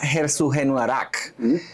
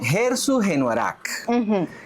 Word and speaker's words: Herzogenaurach: Dassler, fíjense, ellos nacieron en un pueblo que se llamaba Herzogenaurach. Escúchenlo bien, Herzogenaurach, que por cierto tuve que escribirlo de manera fonética porque no hay manera de pronunciar esto.